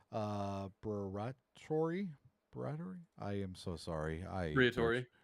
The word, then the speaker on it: Briatore: Yeah, but the whole I looked up the team principal and it Fabio I cannot pronounce these guys' names. Briatore. Briatore.